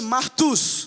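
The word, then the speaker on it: μάρτυς: essa palavra no gre no Grego é pronunciada como se fosse marus e é daí que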